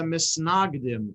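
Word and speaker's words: מתנגדים: So there were the Hasidim and there were the Misnagdim, if you pronounce it in the Ashkenazi way. The Hasidim and those who are opposed to, mitnaged is to be opposed to, mitnagdim are those who are opposed to.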